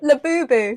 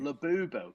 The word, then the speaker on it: Labubu: Spell it. Laboo. Labubu.